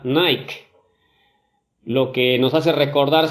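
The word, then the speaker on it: νίκη: mucho la atención que la palabra victoria que aparece en este versículo en su original se pronuncia nike lo que nos hace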